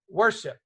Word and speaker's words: worship: The syllable that's emphasized is 1. Worship, right? Worship. You don't say worship. You with me? Everybody with me? Worship, right? So if you sing your song and it goes, I will worship the Lamb, it sounds funny because that's not how you say the word.